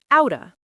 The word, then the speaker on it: outta: Well, out ends with a t sound, and of starts with a vowel sound. When you say them together quickly, that t sound basically merges with the o sound, and it becomes this glided outta sound.